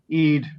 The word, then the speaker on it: Eid: here we want to wish everyone a happy Eid but I pronounce that correctly yes you did we say